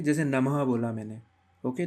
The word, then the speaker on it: नमः: याद रखना ह क्योंकि विसर्ग के उच्चारण में ह का उच्चारण होता है हल्के से ह का उच्चारण होता है जैसे नमः ठीक है शिवाय नमः